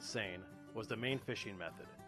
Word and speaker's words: seine: that time peran fishing yes we pronounce it San was the main fishing